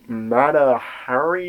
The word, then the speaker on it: Mata Hari: And they ended up seeing the 1930s movie Mata Hari.